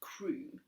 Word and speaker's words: Crow: all my idea said mrs. crow pronounced crew my family is dead